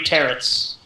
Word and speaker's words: tarot: And he reveals to you 3 tarots that you have never seen. Tarot. I That don't last care. T is silent. Okay. In every language.